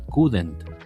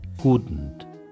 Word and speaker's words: couldn't: difícil la pronunciación y tendemos a decir couldn't, a ponerle una e, pero aprende a pronunciarla couldn't. Couldn't es un poco más gutural la parte donde está la D y la N.